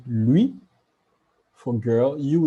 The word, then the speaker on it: lui: il we will say lui which means him louis for l will say l so it remains